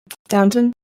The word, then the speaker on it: Downton: Downton? There we go. I paid attention. Yeah. Downton and Worcester. Y'all just stop pronouncing the rest of the words.